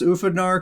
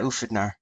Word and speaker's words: Ufidnar: Did I pronounce Ufidnar correctly? Is that how you say the guild name? Yeah, that's exactly it. Yeah, Ufidnar.